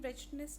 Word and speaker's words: wretchedness: In wretchedness children, W is silent, so that's why we'll not consider this.